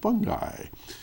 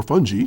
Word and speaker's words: fungi: Mushroom menagerie features over 100 realistically detailed fungi, or fungi, depending on how you say it.